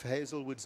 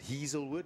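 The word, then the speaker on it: Heazlewood: we look at Reef hazelwood's name and and you'd almost want to pronounce it heilwood a lot of people do it's pronounced Hazelwood and then of course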